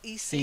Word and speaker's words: easy: It's not like east. It's not the softer sound. It's not easy. It's easy. Easy peasy. Easy peasy apple squeezy. So to pronounce each word. Okay. Try it. Easy. Easy peasy. Easy. Easy peasy. That's better, but try and get that z. It's the vibration of your tongue that makes the z sound.